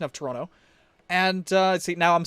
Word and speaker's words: Toronto: So apparently intervocalic flapping happens mostly in North America with certain words, and essentially it's the consonants T and D sometimes get muddled or get replaced with one another. So in, for instance, Toronto, you have the T getting muddled out, and it's still there,